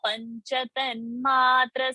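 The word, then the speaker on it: पञ्चतन्मात्र: So the pronunciation is Nya, like an Anuswara. So Panchatan Matra, that is the pronunciation.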